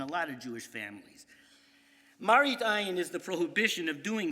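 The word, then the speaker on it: מראית עין: Now, one interesting application of Lifnei Iver is a halachic concept known as Marit Ayin, appearances. It's also known by its Ashkenazic Yiddish pronunciation, Maris Ayin, and a lot of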